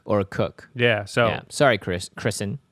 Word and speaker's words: Koch: No, there was a guy at my high school and he spelled his last name Koch, but it was actually pronounced Cook. So I'm not saying... I think it actually is Coke or Cook.